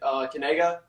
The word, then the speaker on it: Kanega: You say it Kanega. Kanega. Like that. What do you mean by that? See, that's the key. It's Kanega. There you go.